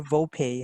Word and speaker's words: VoPay: Is it VOPay or VOPay? How do you pronounce it?